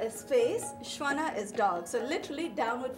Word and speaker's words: Svana: Shwana. Shwana.